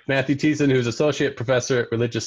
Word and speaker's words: Matthew Thiessen: it's matthew right yep that's right okay it's pronounced matthew thiessen that's what i meant by not embarrassing myself i can't help myself sometimes we'll edit all that out all right matthew teason who's associate professor at religious studies at mcmaster